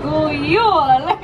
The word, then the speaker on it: God jul: God jul! There we go. That is how you say Merry Christmas in my country.